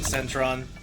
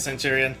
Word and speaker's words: Centurion: all right for the way your name is spelled makes me want to say Centurion will that be all right or is it Centron oh he is Centurion okay sounds good nice